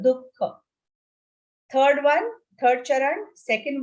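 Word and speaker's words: दुःख: Make sure you pronounce it with a visarga, dukkha.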